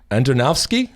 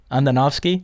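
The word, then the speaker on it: Andonovski: you really yes of course vodka last name Antonov ski Andonov ski huh Antonov ski yes I know me with them so much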